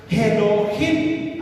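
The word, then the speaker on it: אלוהים: Hasta ahí vamos bien, pero en el original hebreo, en Génesis 1:1, la pronunciación en el hebreo se pronuncia Elohim, así, Elohim.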